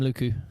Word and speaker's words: Lucu: thought it is do you say his name luku Maxim lucu yeah who's nice great player well good player